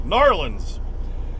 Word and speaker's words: New Orleans: down to New Orleans New Orleans say it is one word not New Orleans not New Orleans it's narlins and we'll deliver down